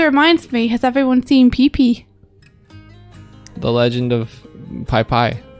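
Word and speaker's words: Pipi: check it out it's called the legend of pee-pee and uh it's just about a scruggly cast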